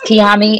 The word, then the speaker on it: Kiami: actually kill me but it's kiami because i don't even say kiami i just it's fine it's kiyami and that's what we're going